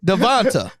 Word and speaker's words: DeVonta: See, this is like y'all thinking you and your friend doing Devonta.